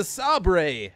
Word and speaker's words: Saber: saber battle drone or if you don't know how it's pronounced it's the Saab Rey battle drone because thunder mission and